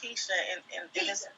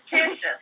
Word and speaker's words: Kisha: He called me Keisha, but, I would accept. Okay. Okay, damn. Well, then how you say your name? It's Kisha, but see, Kisha.